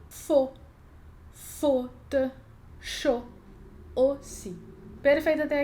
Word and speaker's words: faux: Aqui, de novo, não estou pronunciando o X, porque a última letra a gente pode ignorar aqui. E esse AU, eu não vou ler FAU, eu vou ler com som de O.